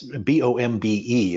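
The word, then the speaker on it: Bombe: it in there it's b-o-m-b-e is what's on the on the photo but it was actually pronounced bomb correct yes it was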